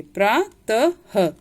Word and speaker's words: प्रातः: तो जहाँ पे भी ये विसर्ग लगा रहेगा उसमें उच्चारण आपका ह आना चाहिए। प्रातः। तो हम कैसे बोलेंगे? प्रातः। ह नहीं लिखना है। विसर्ग का सिर्फ उच्चारण ह के समान होता है, लिखते नहीं है।